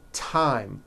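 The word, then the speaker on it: thyme: spelled with a th they are pronounced as if they were spelled with a normal t t like that and these words are thomas thompson teresa thailand thames like the river esther and time which is a spice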